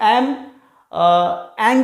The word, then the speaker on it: ऐं: ऐंग भी बोलते हैं, ऐं भी बोलते हैं। तांत्रिक मंत्रों में अगर तांत्रिक रूप से माँ की स्तुति करनी हो तो ऐंग, ग का उच्चारण करते हैं, ऐंग। और अगर गृहस्थ हैं, सामान्य रूप से अगर आराधना करना चाहते हैं तो ऐं कहते हैं।